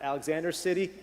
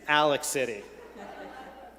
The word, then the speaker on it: Alex City: more of a native it's not alexander city it's alex city in alex city i'm saying it right so the question